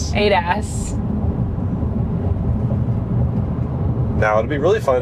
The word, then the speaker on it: ADAS: Adas, how do you say it? Adas. Adas.